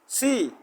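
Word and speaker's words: 七: নো নো নো নো, তুমি তুমি না, তোমাকে আমি এখনো প্রশ্ন করি নাই, তাহলে তুমি তো বলে বলে দিলে ওর কাছে সহজ হয়ে গেল।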